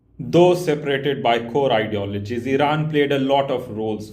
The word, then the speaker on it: Iran: Or to say it properly, Iran.